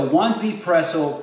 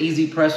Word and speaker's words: 1ZPresso: is the this is the onesie pretzel K plus model okay so in some places they pronounce it easy press OK plus so this company